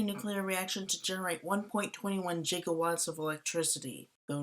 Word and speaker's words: gigawatt: reaction to generate 1.21 gigatt of electricity though normally pronounced gigawatt with a hard G it can be pronounced either way so it's not technically